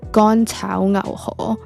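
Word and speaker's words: 乾炒牛河: the first time and how to pronounce them. So the first one would be Gan Chao Ngao Ho, which is beef fried rice noodle.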